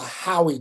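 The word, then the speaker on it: Howey: passed what's called the Howie test. Write that down, Howie. Just like a buddy of yours named Howie. It's how it's spelled.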